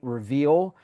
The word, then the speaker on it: Reveel: It is also available on the new streaming site Reveal, which is spelled Reveel.